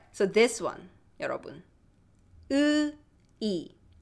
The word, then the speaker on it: 의: See, my lips are not rounded compared to this two. 엄마마마. This two. 오 or 우. My lips are not rounded. 으이. Russian has this sound. 으이. So if you speak Russian, you should be okay with this vowel.